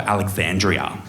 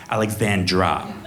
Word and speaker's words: Alexandra: And is that short for Alexandria? Alexandra. Just one less syllable, makes it easier.